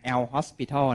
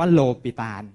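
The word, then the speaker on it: L'Hôpital: a l นะ ครับ อย่า ไป อ่าน L Hospital นะ ครับ เพราะ ชื่อ เข้า ไม่ ได้ เกี่ยว กับ โรง พยาบาล นะ ครับ ชื่อ เขา อ่าน ว่า โลปิตาล นะ ครับ โลปิตาล บอก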